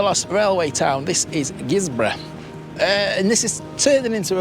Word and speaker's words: Guisborough: Before we get onto the railways, what can we tell you about Guisborough? It's spelt G-U-I-S, Borough, but it's pronounced Guisborough.